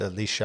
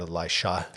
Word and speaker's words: Elisha: Elijah comes along first and um in terms of the pronunciation I've heard Alicia I've heard Elisha. So you know we I I just say Alicia here because it and